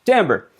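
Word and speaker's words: timbre: But very few of us even know that this is pronounced tambber.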